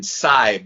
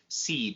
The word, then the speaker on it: Seib: Seib is how you say it. But the whole podcast, I was calling him Seib.